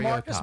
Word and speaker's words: Marcus: pronounces his name. Mariota. Mar- Like Mike Marr. Mariota. Mariota. To me, he's Mariota. Marcus Mariota.